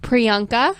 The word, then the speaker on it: Priyanka: I can't pronounce her name how do you pronounce it Priyanka Priyanka Chopra Chopra she's in the show called